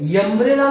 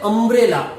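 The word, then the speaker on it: umbrella: तो जब हम अम्ब्रेला का प्रोनाउंसिएशन करते हैं तब हम यहां पे यम्ब्रेला नहीं बोलते हैं, यम्ब्रेला नहीं बोलते, हम क्या बोलते हैं, अम्ब्रेला।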